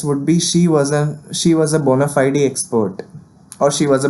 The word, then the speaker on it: bona fide: Okay, then comes the word of the episode, bona fide, which is an adjective. Okay, we can also pronounce it as bona fide with focus on fide.